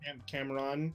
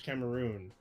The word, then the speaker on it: Cameroon: So Yaphet Kyoto, his father was, I believe it's pronounced Cameroon. Is that correct? Or Yeah, that's right. say Cameron, but it's Cameroon.